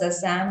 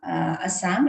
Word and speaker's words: Assam: and mentoring so many hundreds of students across Assam and also outside. And whenever we talk about Sattriya dance, so Sattriya this is how we pronounce it in Assam, in Assamese, which gets translated in English into Sattriya.